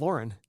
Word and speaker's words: Lauren: saying hey he said it's pronounced Lauren like the name yeah by the way